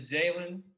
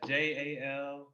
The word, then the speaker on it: Jalen: Oh yeah, both my handles is Jalen 3. That's JALEEN 3. And it's pronounced Jalen, not Jaleen.